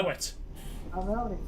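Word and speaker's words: Slaithwaite: Slafeway. Oh, Slafeway. Now, if anyone was English, that is probably how it should be pronounced, but it's not correct. True. It's I know. Slowett.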